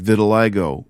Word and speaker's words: vitiligo: I mentioned that I had vitiligo, rather pronounced vitiligo.